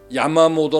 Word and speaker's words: 야마모토: 야마모토 제독 의 모습입니다 일본에서는 야 마모도 라고 발음 하므로 저도 여기서 야 마모도 라고 합니다 도꾜 나도 유다 자동차를